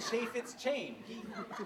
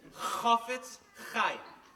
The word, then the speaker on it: Chafetz Chaim: The Chaffetz Chain.